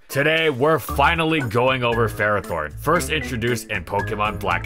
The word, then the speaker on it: Ferrothorn: video we're going with how most fans pronounce it which is ferrothorne not for raw Thorn well all right here